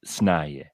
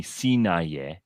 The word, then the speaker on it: Sinaye: you pronounce it as Snaye. I get so irritated with people who call me Sinaye or Sinaya. So same thing with that, almost omitting the I and just and you